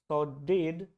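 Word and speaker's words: saudade: Now this first word is सॉडेड और सॉडाड, you pronounce it like that.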